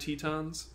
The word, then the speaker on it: Teton: The Grand Tetons. Have you guys ever watched Stronger? No, I haven't. In Kamen Rider Stronger, his name is not Titan, it's Teton. They all pronounce it Teton.